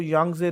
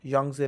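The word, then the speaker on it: Yangtze: river continent वाइजता Asia जो यंगजे river के पढ़ाया टी साइलेंट यंगजे रिवर ठीक है या चाइना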